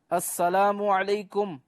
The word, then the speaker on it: السلام علیکم: Number 11، سلام اور جواب سلام کا درست تلفظ یاد فرما لیجئے۔ پہلے میں کہتا ہوں، آپ سن کر دہرائیے، السلام علیکم، اب پہلے میں جواب دیتا ہوں، پھر آپ